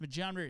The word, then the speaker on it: Majumder: It's pronounced Majumder.